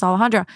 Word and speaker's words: Alejandra: an uphill battle because so many people can't pronounce alahandra and people have even come on here and been like you're not even pronouncing your name correctly because I'm actually saying it in the American way that's not even you